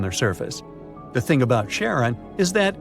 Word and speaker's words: Charon: the most mysterious one, Chiron, also pronounced Charon. So you can pronounce it however you like. I'm going to go with Charon.